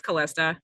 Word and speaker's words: Kalista: I think we'll hear from one more person, Courtney Kalista. Hope I'm pronouncing that correctly. Did you have it? Close enough. It's Callista.